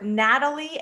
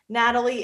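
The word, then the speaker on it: Nathalie: So the couple's names are Natalie and Colby. Natalie is spelled with a N A T H A L I E.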